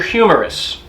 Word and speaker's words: humerus: to your elbow okay this is called your humerus okay humerus but it's not you know h-u-m-o-r-m-o-u-r